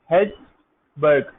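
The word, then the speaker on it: Hejlsberg: ठीक है, स्पेलिंग पढ़ने में थोड़ी सी डिफरेंट लगेगी। हेल्सबर्ग ये स्पेलिंग है, यानी ये इसकी प्रोनाउंसिएशन है।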